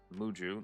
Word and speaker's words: Muhju: Um, we are live with Muju. That's how you pronounce it.